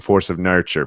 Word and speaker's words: Force of Nurture: Almost everybody says nature. Force of Nature. Yeah. And I realized, I'm like, the pun was good, but the pun's not good enough to keep people from mispronouncing the puns. So I applaud you for saying force of nurture, because most people do not.